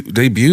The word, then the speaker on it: debut: Debut.